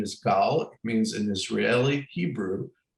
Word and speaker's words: Gal: profile gal of my first name is gaul it means an israeli hebrew a wave in